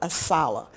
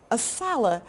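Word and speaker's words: ASALH: books so it takes an organization like assala which is how we pronounce our acronym aala to promote to create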